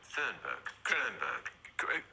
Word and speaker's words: Thunberg: How do you pronounce that girl's name? Thunberg.